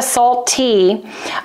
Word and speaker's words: saltT: Like the last T should be tall, so like it's a hard T pronounced, salt T, but I like the labeling.